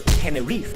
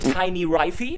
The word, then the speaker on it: Tenerife: I'm in a fancy schmancy hotel room on Tenerife, or Tenerife. You can also mispronounce it and call it Tiny Rifey, but then you're one of those persons who also call a mojito Mojito.